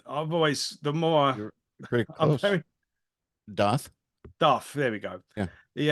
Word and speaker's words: Dååth: I've done a retrospective um how do you pronounce the the I've always the more Darth Darth there we go yeah the um I did